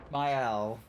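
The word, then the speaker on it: Maelle: the first time you've told me how to pronounce it. And I keep thinking that I've been that I've taken the correction. Myel like myel myel myel myel go are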